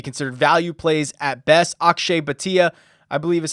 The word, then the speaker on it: Akshay Bhatia: Akshay Bhatia, I believe is how he pronounces that.